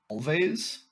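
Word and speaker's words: Alvvays: um a band called Always I think it might be pronounced always but is it two v's it's two v's instead of a w um I and I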